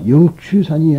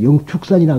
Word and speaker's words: 영축산: 바로 영추산이 아니라 영축산이라 그럽니다. 근데 불교적인 수로예요. 영축산. 근데 이것을 한문으로 취라고 됐다 해서 독수리 취자라 그래가지고 우리는 불교에서 취라고 읽으면 안 됩니다. 영축산으로 읽어주는 것이 좋습니다.